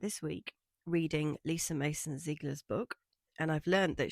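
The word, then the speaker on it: Ziegler: As soon as I see IE, I'm like, "Oh, it must be pronounced E."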